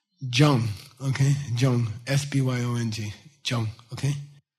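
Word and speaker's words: སྦྱོང: This jang means refined. Put a naro on it and it becomes jong.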